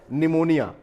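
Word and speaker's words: pneumonia: पढ़े नहीं जाते उनमें ये वेल नॉन वर्ड है निमोनिया इसके पहले के वीडियो में हमने आपसे इसकी चर्चा की थी की ये वर्ड में पीस साइलेंट रहता है यह एक प्रकार की बीमारी का नाम है निमोनिया तो ये पी यहां पर साइलेंट है तो इसकी स्पेलिंग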